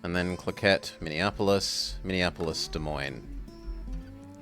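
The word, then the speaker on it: Des Moines: like Fargo clet and then clette Minneapolis Minneapolis De Moine Desman Des Mo but it's De Moine so I'm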